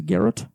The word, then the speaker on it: garrote: The last one is the garrote. The garrote?